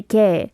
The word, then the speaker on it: 걔: The middle character here, kie, like it's spelt kiog and then a ye, but you don't overly pronounce that like kie, right? No, we just say ke.